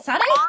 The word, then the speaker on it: Sade: Sade? No, Sade. Sade? Sade. Is that how it's pronounced? Yes, Sade.